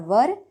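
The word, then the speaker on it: were: लगाते हैं वॉज और वर, ठीक है। इसको कई लोग वेयर भी कहते हैं लेकिन इसका रियल प्रोनाउंसिएशन होता है वर।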